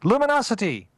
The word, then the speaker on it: Lumino City: It's 2 words, Lumino City, and a friend of mine pointed out to me that it's pronounced Luminosity.